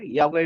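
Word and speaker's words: Iakwe: Yahweh means, so I'm going to syllableize Yahweh first. Yahweh, I-A, is Yah, that's mean rainbow, and Kwe mean you.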